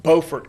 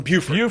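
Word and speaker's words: Beaufort: You pronounced Bowfort correctly. Thank you. Be and I I come from the other one that people mispronounce all the time. I come from Buford.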